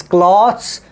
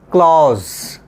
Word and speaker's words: cloths: british english it is cloths in american english it is class or clause clause okay now okay the